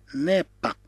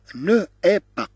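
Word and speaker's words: n'est pas: في الحقيقة تقرأ نو اي با، ولكن كما قلنا فيما سبق بأن او مع او نحذف الأولى ونضع هذا الأبوستروف. لماذا؟ حتى يسهل النطق. بدل أن نقول نو اي با نقول ني با.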